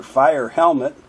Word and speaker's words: Feuerhelm: few of those Services how do I pronounce that fewer Helm a fe Helm and one thing it said it was German for fire helmet but I asked her I asked Jessica you know hey I'm I'm going to say your name so don't let me message up how do you pronounce it and she s back yeah it's a few different ways but we just say fire Helm I wow that's easy